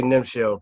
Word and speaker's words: Nemchel: I say Nemchel.